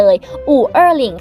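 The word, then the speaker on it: 五二零: ของ ประเทศ จีน เลย อู่ เออหลิง ค่ะ ซึ่ง ออก เสียง คล้าย ๆ กับ บ่อ อ้ายนี่ เพราะ ฉะนั้น แล้ว วัน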